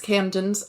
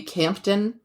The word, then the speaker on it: Chipping Campden: or steward of Viscountess Camden's estate in Chipping Campden. Now, it's spelled Campden, so it could be Campden or Camden. And it's just easier to say Camden.